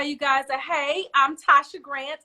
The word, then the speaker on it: Tasia: guys that hey i'm tasha grant i know it looks like tasia but i promise you it's tasha just you know my